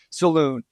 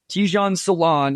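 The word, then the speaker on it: Tidjane Salaün: their games and I swear announcers called him Saloon this it came out today I think it was NBA Communications West I think they had the initial tweet it's Tan Salon ton Salon is how it's pronounced according to that so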